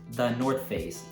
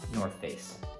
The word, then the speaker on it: The North Face: In this video, I'll touch briefly on the North Face, and yes, it's pronounced the North Face, not North Face.